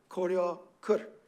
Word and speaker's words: 고려 글: It ends in an R. And remember, the pachim real in this dialect is pronounced as r, as a tap or a flap, right? So koryo kur, which worked kind of well.